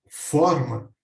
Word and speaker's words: forma: forma para assar bolo se a pronunciamos com o aberto ficando forma essa palavra passa a significar um formato uma aparência um modo de ser como nos exemplos ou